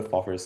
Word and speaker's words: FOFR: Um, yeah, but basically, if you go to Foffer's site, you can see these like really incredible demos.